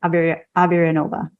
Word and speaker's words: Averyanova: over and it's under my name, Aberanova. Perfect. Do you want to spell that for us just in case?